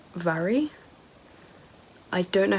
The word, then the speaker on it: Mhairi: I just looked in the book and it says that her name is pronounced Vary.